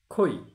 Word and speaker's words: খৈ: অনুরূপভাবে যদি আমরা ধরি থই, থ যোগ ঐকার, এখানেও তখন থয়ের সাথে ওকার দিয়ে রস্বই, মনে মনে রস্বই দিয়ে উচ্চারণ করতে হবে, থই। অনুরূপভাবে খই।